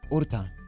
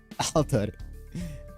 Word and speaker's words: Alter: And my last name is Orta, not Alar. It's the Japanese pronunciation.